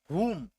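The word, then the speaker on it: whom: उच्चारण देखो, वो आधा वो से हुम, आधा वो का हुम, है ना, ऐसा साउंड आएगा, ठीक है।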